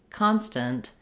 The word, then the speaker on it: constant: at how to pronounce constant and constantly so this word constant and constantly they're both stressed on the first syllable con that means the letter O is going to say the ah vowel in this word and